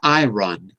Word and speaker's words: iron: iron as iron mhm not iron the r is silent iron oh it's difficult